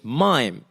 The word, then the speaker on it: Maim: Like, no, my name is Mime. It's spelled M-A-I-M, which is, maim, the verb to maim.